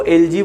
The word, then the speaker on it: elegy: तो दोस्तों उसको एलजी बोलते हैं। ELEGY जिसकी स्पेलिंग होती है, स्पेलिंग भी आपको ध्यान रखनी है।